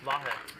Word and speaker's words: Vahe: Vahe.